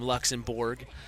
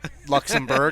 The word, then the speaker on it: Luxembourg: Luxembourg, I think, but it's spelled like it's spelled in English like it would be Borg.